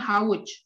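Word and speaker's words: havuç: dengan W ya Oke dalam bahasa turkifa itu sama dengan W jadi cara membacanya hauch Oke cara membacanya seperti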